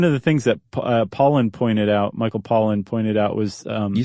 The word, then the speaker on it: Pollan: Do you know how to pronounce his name correctly? No. Pollan. We'll just say that just to keep it from getting confusing. Okay.